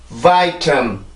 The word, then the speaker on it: vitamin: 자, 3음절이고요. 강세는 첫 번째 음절에 있습니다.